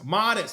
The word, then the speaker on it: Matas: still don't remember or is it um Modis Modis that's how you pronounce it cuz like a modest kid he goes to Detroit